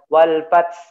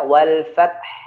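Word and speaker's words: وَالْفَتْحُ: Jadi ya wal fath gitu ya, tidak boleh wal fath fath ini fatal sekali ya, salah kalau bacanya wal fath gitu ya.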